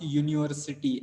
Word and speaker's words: university: Though it begins with U, it is not vowel because we pronounce university, and the sound of Y is there, and that's why that is consonant and a university.